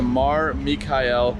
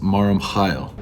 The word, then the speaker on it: Mar Mikhael: I'm heading over to Mar Mikhael. This is Mac from the future. It's actually pronounced Mar Mikhael.